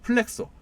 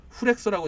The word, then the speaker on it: 플렉소: 보통 이제 일반 그 택배 박스와 같은 골판지 박스들은 그 오프셋 인쇄보다는 좀 정교함이 낮은 뭐 플렉소, 후렉소라고 이제 발음하기도 합니다.